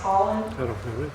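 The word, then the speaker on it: Haaland: is Deborah Holland h-a-a-l-a-u-d it's spelled a-a-l-a-n-d that's pronounced Holland and you'll see her on the news sometimes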